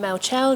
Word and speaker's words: Mel Chell: And I'm Mel Chell, yes it rhymes.